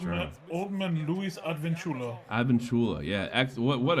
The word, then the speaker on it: Advincula: Advincula.